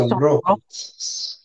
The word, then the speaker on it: sonrojó: Say sonrojo. Oh. Say again. Say rojo. Say Sonrojo. sonrojo. Rojo. Sonrojo. Rojo. Say sonrojo. Oh, rojo. Sonrojo. Okay, everybody, see the accent on the last O?